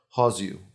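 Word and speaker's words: João: It wasn't Jose. Joao. Oh, yeah, I couldn't pronounce it either. Every time it came up, I looked at it. Like, that's not Jose. Subtitles. It's not Jesus. It's like no, it's Joao. not. Yeah.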